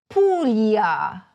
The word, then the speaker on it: Puglia: The first is the combination of "gl," which sounds like "million." You noticed it earlier in PUGLIA. Please repeat it after me: PUGLIA.